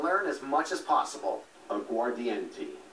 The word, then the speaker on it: aguardiente: Aguardiente. Aguardiente, am I pronouncing it correctly?